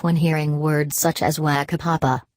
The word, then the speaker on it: whakapapa: I also eat feijoas by the bucket and no longer laugh when hearing words such as whakapapa. In case you're wondering, the WH is pronounced as an F.